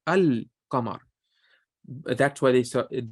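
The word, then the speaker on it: القمر: So the one for the qamar, because think about it, you say al-qamar. You don't say ak-qamar. You pronounce the lam. You say al-qamar.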